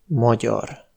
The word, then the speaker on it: magyar: Gy : magyar (hongrois), ny : nyár (été), ty : tyúk (poule).